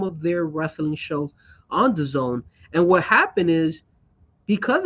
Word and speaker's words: DAZN: But keep in mind, DAZN. How do you say that? Daz? the zone. The Zone. Sorry, the Zone. Oh my God, Jesus, terrible. All right, the Zone.